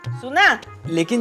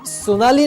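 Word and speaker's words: Shonali: सोनाली नहीं बड़ी माँ, सोनाली। उसका नाम सोनाली है, SH। उसके नाम में H साइलेंट नहीं है ना।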